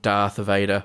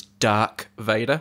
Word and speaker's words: Darth Vader: and said that for many years they thought darth vader was dark vader yeah i've heard that mispronounced before by someone in a meeting and